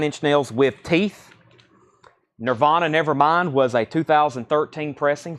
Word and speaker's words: Nirvana: Nirvana Nevermind was a 2013 pressing, $49.99. Leonard Skinner, pronounced Leonard Skinner.